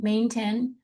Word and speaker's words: maintenance: So that actually we're going to swallow that tea. Just gonna swallow the tea in the right in the middle. It's going to go away. May nits. So you're coming in on that N. You're ending on the N main. So you're pushing off pushing off for that N maintenance. But you have to you have to close your little emphasis. Get that fake T.